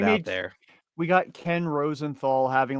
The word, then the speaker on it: Rosenthal: Can someone pronounce Ken Rosenthal's name, please?